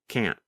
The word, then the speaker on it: can't: In the pronunciation video of Lesson 20, you can hear Pete first pronounce can't with the letter T. And then the next time, you hear him pronounce it with the held T, can't.